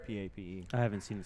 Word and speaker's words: Pape: It is Pape. I just heard the the stadium announcer.